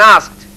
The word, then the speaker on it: asked: telephoned my friend and asked. Also the same as finished. Ask, ed, it has an ed at the end, but it is pronounced t.